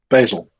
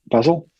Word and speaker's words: Basel: pronunciation wrong robin basel ball how do you pronounce that basil so basil you know what i mean it's it sits